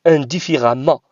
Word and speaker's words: indifféremment: édicté l'adverbe indifféremment indifféremment vous voyez ici le eux mais je le prononce à c'est par souci de prononciation parce que je peux pas dire indivis revenant par si lourd de de prononcer ce mot comme ça donc le eux se prononcent à indifféremment vous voyez ici